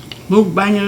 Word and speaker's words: mukbang: guys you move bummers move banging is how you pronounce it and people are doing